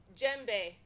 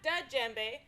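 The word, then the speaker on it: djembe: drum is called jembe that's d j e m b e gembe gembe not dud gembe but gembe because the d sound is silent the jinbei is played with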